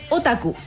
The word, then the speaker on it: otaku: ¿Y cómo se pronuncia? Otaku.